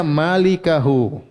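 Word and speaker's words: مالكه: sama dengan ini berarti mulkahu ini bacanya malikahu pemilik wajah yaitu Hua paham tapi kalau kita baca mulkahu berarti salah baca karena dalam kitab maana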